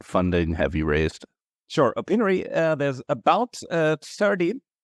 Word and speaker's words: Opinary: company openery oh innery like opinion not that penery okay so it's o-p-i-n-a-r-y opinary so thanks for being